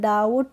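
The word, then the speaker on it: doubt: है डीओ यू बीटी तो इसको हमने क्या पढ़ा है डाउट क्या पढ़ा है डाउट पढ़ा है इसको डाउ बट नहीं पड़ा है तो इसमें हम बी का प्रोनाउंस नहीं कर रहे हैं तो क्या है टी से पहले बी आता है तो हम उसमें बी का प्रोनाउंस एशन नहीं करते हैं बी साइलेंट रहता है और एम के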